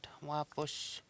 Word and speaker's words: wapush: And the final there is the SH, the sh sound at the end of the word. Wapush.